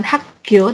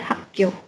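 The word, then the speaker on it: 학교: Kemudian bukan hagyo tapi hako. Ini intensifikasi jadi mereka jadi bacanya kayak doble gitu.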